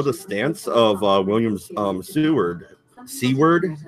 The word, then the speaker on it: Seward: Seward, is that how you say it? Because there's no T there. I thought it was Stewart, but I wonder if